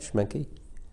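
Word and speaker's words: Schmincke: But I also use Schmencke. You like that? Oh, yeah. By Mussini. How do you pronounce? S C H M I N C K E or something like that. Schmencke.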